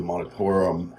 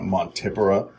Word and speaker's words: Montipora: As you can see, the Montipora or Montipora, depending on how you like to pronounce it, is starting to grow in.